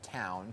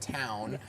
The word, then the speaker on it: Towwn: Yeah, joining us now are the co-founders of Towwn.